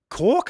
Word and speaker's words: Koch: It was KOCH. I think he called you Koch. Yeah, it's KOCH. Yeah. That's how. Well, in German, it's actually Koch.